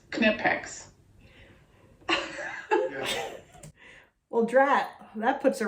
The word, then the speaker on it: Knipex: do we say it it is pronounced quinnipex snip X knipex well drat that puts